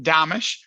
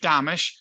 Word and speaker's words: Domitrz: look at it so imagine Amish with a D in front of it damish and that's actually how you say it so it's domish and yeah I've been